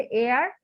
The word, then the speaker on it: heir: উত্তরাধিকার, এইচ ই আই আর, এটা উচ্চারণ হচ্ছে এয়ার, আর মানে হচ্ছে বাংলা মানে হচ্ছে উত্তরাধিকার।